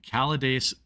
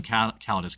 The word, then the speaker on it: Calidus: I honestly, with his pronunciation skills, I don't blame him. I mean, Taravalia Kesh isn't very difficult there. Like that's like Anglo pronunciation logic right there. But okay, yeah, you can't. Like, all right, you know, whatever. Like Calades was the hardest part.